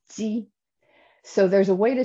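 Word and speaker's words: 鸡: In Mandarin, we pronounce it ji.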